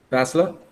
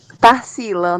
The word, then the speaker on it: Tarsila: Tássila? Eu falei, estou pronunciando o seu nome certo? Tarsila, na verdade.